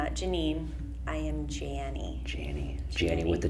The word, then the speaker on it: Jannie: in the world yes so my name is Janie it's spelled like Annie with the J a lot of people like to call me Janie which is not right and it does sometimes